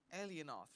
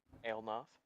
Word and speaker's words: Elnoth: So, that being said, well, Alienoth, right? Elnoth. Elnoth. All right, I'll remember that pronunciation.